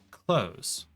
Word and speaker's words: clothes: the combination thereof the way you pronounce that is supposed to be close no th sound at all just like you close the door you're supposed to pronounce that close we can get maple